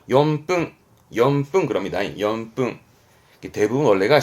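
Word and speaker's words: 四分: 합등 직분 그러거든요 그런데 4분도 염뚱임을 좀 간과하는 분이 계시더라고 4분도 용품입니다 이유 아시겠죠 자 여기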